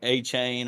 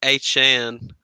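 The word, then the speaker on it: Achane: They're like A-Chain or Josh Jacobs or some shit. I'm like, God dang, has he already moved up that far? Jesus. We need to stop pronouncing his name wrong, though. It's A-Chan.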